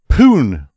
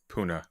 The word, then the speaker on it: Pune: Um India's first Trump banded commercial and office development in pun.